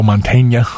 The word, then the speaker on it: Mantegna: he doesn't a pun the change becomes when there's a GN like Joe Mantegna oh yeah I was